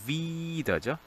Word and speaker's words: wieder: 여기서 wieder죠. 이 긴 발음.